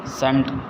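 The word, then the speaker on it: scent: The spreading of fragrance of a rose are अ सेंट। देखिए यहाँ टी सी जो है ना साइलेंट है, यहाँ सेंट ही बोलते हैं।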